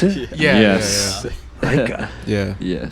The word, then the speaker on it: Laikaa: Is that how you pronounce it? Yes. Laikaa.